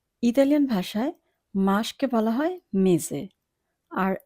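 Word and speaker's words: mese: Italian ভাষায় মাসকে বলা হয় মেজে। এখানে যদি আমরা বানানটির দিকে খেয়াল করি তাহলে দেখব সবার শেষের দিকে আছে এসে। এসে এর উচ্চারণ আমরা এখানে জয়ের মতো করব, এসের মতো করব না।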